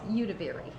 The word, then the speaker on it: Udvari: Hey guys, Ben Labadie here, and I'm with, and how do you say your last name? Udvari. Udvari. It's Hungarian.